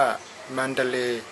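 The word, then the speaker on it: มัณฑะเลย์: เรา จะ ไป เมือง มัน ทะเล มัน ทะเล เมือง มัน ทะเล ก็ พม่า ออก เสียง ว่า สำเนียง พม่า ว่า มันดาเล มันดาเล หรือ ถ้า ใช้ ชื่อ แบบ ย่อ ๆ ก็ มเล มาเล คมัน ทะเล ไ นี้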